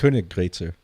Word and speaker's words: Königgrätzer: Is it the Königgrätzer March? Königgrätzer. You're close. What is it? Yeah. They just did those umlauts, change the pronunciation. Yeah, how do you pronounce it? Königgrätzer.